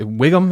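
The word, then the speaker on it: Whigham: of a household name is shay is it wiggum is that how you pronounce him yeah yeah he everything he's in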